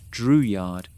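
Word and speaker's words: Drouillard: George Dreward, pronounced Dreward, signed on as an interpreter and hunter.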